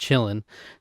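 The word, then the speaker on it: Qilin: There's a creature in the film, a tiny fawn-like being called a chillin, it's pronounced chillin, that can read one's soul and bows to those who are pure of heart.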